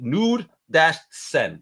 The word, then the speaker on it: Knudsten: on Instagram, he's on Facebook, and it's nude-sen. Hey, I said it right now. I wrote it down, and I'm gonna break it down phonetically. Nude-sen.